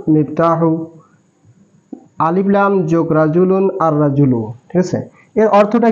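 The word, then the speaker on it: الرجل: আর আর রাজুলু। এখানে লামের উচ্চারণ হয় নাই, এর বিষয়ে একটা কথা হলো, সেটা হরফে শামসি আর হরফে কামারের বিষয়।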